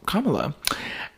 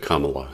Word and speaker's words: Kamala: were saying that oh it has to be Kamala and that gave me a littlea or is it Kamala how do you pronounce it what's the proper way to pronounce